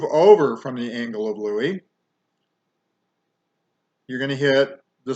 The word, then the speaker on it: Louis: the angle of louie now it looks like lewis but we pronounce it louie okay so here's the